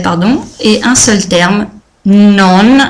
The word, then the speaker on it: non: Donc, deux termes en français, pardon, et un seul terme, non, attention à bien prononcer le N final, en italien.